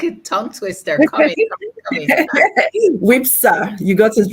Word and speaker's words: WIFPSA: So it feels like the F is silent. Yeah, exactly. Say it again. It's like I don't know how to do F and P together. F is silent. WIFPSA. What is silent? The F? Is the F silent? The F is silent, yes.